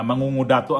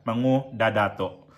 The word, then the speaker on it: Mangudadatu: Ah mangungodato ang sabi ko ' ba. Mali ah. Sorry ah Governor Pax ah Ali ah Ali Sangki Mangadato pala to siya mango dadato e kasi kanina kasi ang mali pala yung bigkas ko pasensya na ha kasi